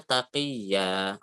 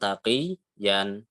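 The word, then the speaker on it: تَقِيًّا: Yang kedua, contohnya in kunta taqiyya, ditulisnya taqiyan ya. Ini sering kita temui di juz 30 juga banyak ya. Tapi dibacanya taqiyya bukan taqiyan.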